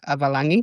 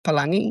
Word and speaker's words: Palangi: Balangi, I think it Balan starts with P, but they pronounce it like a B, so Balangi, Valani girl. Palangi, yeah.